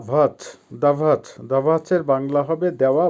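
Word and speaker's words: дать: করা বা স্টাডি করা ভার্ব দা ভাত দাঁত দাঁত এর বাংলা হবে দেওয়া বা গিভ আবারো বলছি উচ্চারণ হবে দাঁত দেওয়া বা গিভ ভার্ব গাতভিচ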